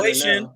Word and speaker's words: Wei Shen: Wei Shen.